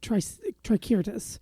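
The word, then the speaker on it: Tricyrtis: call it uh yeah tricirtus okay because it sounds like a dinosaur yes but you know when you say it okay well in Latin there was no s sound on the C the C always sounded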